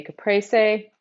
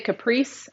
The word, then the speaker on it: caprese: So if you're just joining, we're making a caprese. That's my Texas twang girl way of pronouncing it. I know the Italian way. If you say caprese, I'm going to say you're saying it wrong.